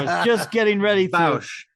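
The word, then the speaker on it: Bossk: I believe it's Bausch, although they never really say it in the movie.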